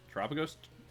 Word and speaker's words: Terapagos: Terapagos?